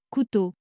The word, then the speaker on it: couteau: Cette combinaison magique s'utilise principalement à la fin des mots et produit toujours un O fermé. C'est l'une des particularités les plus charmantes du français. Écoutez, O-E-A-U. Couteau, C-O-U-T-E-A-U.